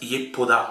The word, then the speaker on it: Yepoda: Ça se prononce Yepuda en français.